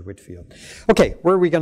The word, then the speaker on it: Whitefield: his name will you so Whitefield but pronounced George Whitfield okay where are we